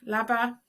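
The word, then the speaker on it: leaba: birvalia Ober Valia is homework it can be pronounced overwhalia either at the W laba is bed lava and kahir is chair kaher so we have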